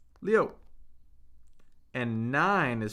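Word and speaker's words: 六: Six is pronounced Leo.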